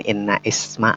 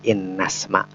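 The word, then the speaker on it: إن اسم: Bukan inna isma, bukan, tapi innasma.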